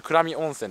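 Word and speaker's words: 倉見温泉: んですよこれこれで倉見温泉って読むんですけどああっますが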